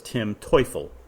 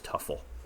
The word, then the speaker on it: Teufel: I and I think that actually Brian once told me that the correct pronunciation was Tuffleel or the pronunciation that he went by was Tuffle.